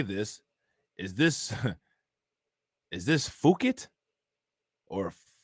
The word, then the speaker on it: Phuket: Is this Phuket or fuck it? Thailand? Is that Thailand? Is that how you pronounce it? Is that PHUKET? Is that pronounced fuck it?